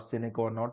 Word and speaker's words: sine qua non: Sometimes it seems that both are sine qua non to each other. What did I say? Sine qua non. Sine qua non or sine qua non, the real pronunciation.